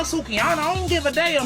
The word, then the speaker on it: Sukihana: I want to take zucchini on the day homie zucchini I want to put my face in that oh Mr White sir I I think it's pronounced silky it's okay no sukiana I don't give a